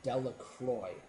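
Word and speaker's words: Delacroix: the story uh dicki delaqua it says delaqua the villagers pronounce this name Delroy and then later on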